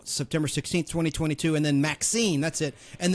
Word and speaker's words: Maxxxine: And then Maxine, that's it. And the X, in Maxine, it's triple X, like it's spelled it MAXXXINE, was released on July 5th, 2024.